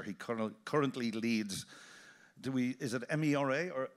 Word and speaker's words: MeRA: He currently leads, is it MERA or EMRA? How do you pronounce it?